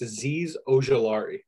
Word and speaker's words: Azeez Ojulari: So I'm going to take, I'm going to pronounce this incorrectly, Azeez Ojulari. I believe it's Azeez Ojulari.